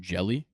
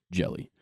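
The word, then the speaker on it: Hjelle: James Woods uh and Giants relief pitcher Sam jelly is how you pronounce it it's h j l l e interesting pronounced jelly um James Woods is 67 which is already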